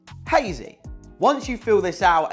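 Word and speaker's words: Hayzy: So, for example, me with hazy, I couldn't spell it h e y z y because the caller would pronounce it as hazy. So, I had to send it over with saying h a y z y. So he pronounced it hazy.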